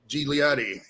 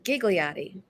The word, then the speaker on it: Ghigliotti: Today, we are joined by legendary actress, Miss Ghigliotti. Ghigliotti, is that right? Best known for the movie Clerks. How are you today, ma'am? I'm good. It's Ghigliotti. Ghigliotti.